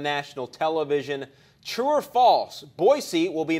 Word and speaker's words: Boise: or more time yes pronounce is pronounced boys you're nuts boise boise boise okay i will say to because we were messing around this now and just I'm not sure it's okay Boise with the Z all right I'll stay